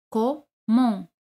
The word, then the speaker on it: comment: ¿Cómo es comment? T no se pronuncia al final.